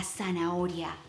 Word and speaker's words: zanahoria: Remember that H is silent. La zanahoria.